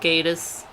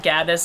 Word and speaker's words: Gatiss: It's like people always pronounce it Gaddis, and he was just like, just think gay.